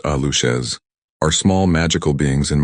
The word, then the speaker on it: Aluxes: Aluxes, pronounced ah-loosh-es, are small magical beings in Mayan folklore.